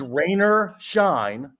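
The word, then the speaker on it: Raynor Scheine: the same guy the actor's name is Rainer shine not making that up that's not what Mama named him I guarantee it uh his name is r a y n o r s c h i NE rer shine I met him with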